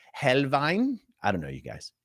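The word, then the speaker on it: Helnwein: An American might say Gotfrieded Helwine, but I think it's Helvine.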